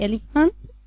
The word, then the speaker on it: elephant: خدوا بالكم يا اصحابي ان البي مع الاتش بتنطق elephant.